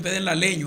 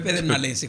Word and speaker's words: pedernalense: Dicen pedernaleño a veces. Ya. Pero es pedernalense, como usted lo pronunció.